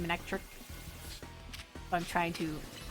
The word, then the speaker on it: Manectric: I think I always used to pronounce it manic trike, but I think it's supposed to be manectric.